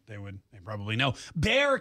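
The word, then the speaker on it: Bexar: would they probably know Bear County Texas so the x is silent I guess so all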